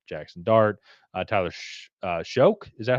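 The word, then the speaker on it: Shough: up the draft boards like Jackson Dart, Tyler Shoke. Is that how you pronounce? Shock. Shuck.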